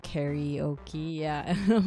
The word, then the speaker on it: karaoke: way that people pronounce karaoke is always interesting to me because it comes from karaokestora, and kara means open or empty, and then orchestra is just orchestra, right?